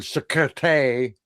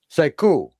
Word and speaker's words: sécurité: There's a persistent theory that CQ originated from the French word sécurité, meaning safety or, hey, pay attention. When pronounced in French, the first two syllables sound remarkably like the letters CQ, sécu, Sécu. sécu.